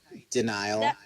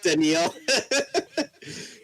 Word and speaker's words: Daniel: be like oh hi denial good night oh thank you yeah it's actually pronounced Daniel but nice to meet